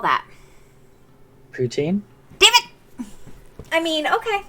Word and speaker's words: poutine: But if it's a French word, it should be pronounced properly in French. Now, if you don't want to give it the French accent, then you can say just putin, but it's not poutine.